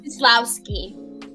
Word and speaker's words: Scislowski: Scislowski. Scislowski. Yeah, the C is silent, so just kind Okay. of skip over it.